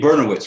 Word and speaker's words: Bernowitz: Well, listen, Jamie, Jamie Bernowitz, right? Am I pronouncing that right?